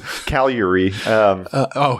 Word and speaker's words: Cagliari: to pronounce it in the Italian method, so it's Cagliari.